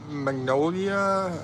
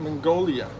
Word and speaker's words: Mongolia: Um, you know, you also got uh Magnolia. How do you say that? How do you say it? Mongolia.